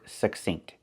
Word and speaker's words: succinct: We look at the word succinct. We see two C's. The first C makes the k sound, like in cake, k, k. And the second C makes the s sound, like in star.